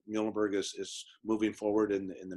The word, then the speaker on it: Muhlenberg: And it's Muhlenberg. We are the mules, so that's always the way to remember how to pronounce the name.